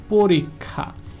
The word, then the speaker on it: পরীক্ষা: এই যে খা, কখ, আমি কিন্তু শুধুমাত্র খ দিনে যে পরীক্ষা না, এটার উচ্চারণটা হবে পরীক্ষা, পরীক্ষা, অর্থাৎ এটা যদি মাঝখানে থাকে বা শেষে থাকে এর উচ্চারণটা হবে কখ।